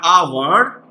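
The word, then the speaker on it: hour: और जब ऑनर आ रहा है आ वर्ड, इसलिए इसको हम यहां पे लिखेंगे एन ऑनर। ठीक है, जैसा आवर, आवर, एच यू आर, आवर। ठीक है, देखिए पहला अक्षर एच है, लेकिन ये साइलेंट है।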